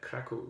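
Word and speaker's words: Kraków: this week I was in Cracow Poland or how they pronounce it there crackle I'm just sitting on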